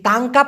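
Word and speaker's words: tangkap: একটু খেয়াল করে দেখুন টি এন জি তাং কে এ পি কি হলো টাংকা কাপ তাই না টাং কাপ এই তাংকাপ মানে মূলত হচ্ছে কোন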